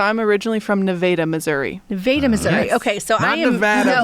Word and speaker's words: Nevada: on yes so I'm originally from nadaa Missouri Nevada Missouri okay so I Nevada by the way